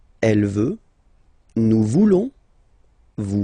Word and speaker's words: voulons: Then for nous, classic ending, ONS, don't pronounce the S, just pronounce the on. Nous voulons. Nous voulons.